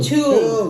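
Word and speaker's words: Tuam: How do you say that? You say we say tune. Tomb tomb. Tomb tomb.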